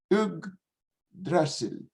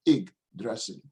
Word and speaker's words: Yggdrasil: in Scandinavian mythology, is Yggdrasil. Y-G-G-D-R-A-S-S-I-L. S-I-L-L. Yggdrasil. Or in the pronunciation of modern pronunciation, in modern Icelandic, then Yggdrasil.